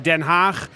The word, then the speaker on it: Den Haag: It is almost correct there, Ali. It is actually Den Haag, but the locals here will even pronounce that differently.